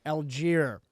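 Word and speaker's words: Allgeier: Algier, Okay.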